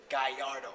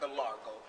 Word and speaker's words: Gallardo: this they go get the Gallardo that's how you really pronounce it not gargo number two you riding